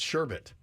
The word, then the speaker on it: sherbet: Yeah, it's sherbet. Unless there's some weird silent R that's not even There's in no there. other There's no R in the It's word. not even in there. It's not like it's spelled sherbet and you don't pronounce the R. It's just sherbet.